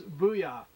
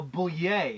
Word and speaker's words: Bouillet: Oh, Bouillet. Bouillet. Like a French.